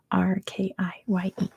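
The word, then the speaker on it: Türkiye: It's spelled TU with a little umlaut. Turkye.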